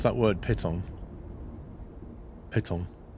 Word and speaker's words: piton: Piton. Piton. It's like pit with the word on the end of it, so piton.